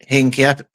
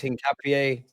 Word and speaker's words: Hincapié: like your Keppers, your Norgards, your Mosqueros, and Hincapié. I can never say his name right. It's Hincapié, isn't it? I got like 1 minute I'm told it's Hincapié, Unks, and then I'm told it's Hincapié.